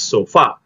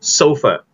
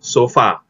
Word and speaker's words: sofa: but in english we don't pronounce it as so far we pronounce this as sulfur sulfur so far but sulfur i just bought a new sofa bukanya i just bought a new sofa so far so far okay but if you